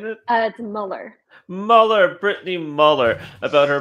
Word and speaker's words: Muller: Is that how you pronunciate it? It's Muller.